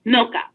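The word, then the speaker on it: Milca: at navigate HCR calm and her name is pronounced milka she also is bilingual so if you have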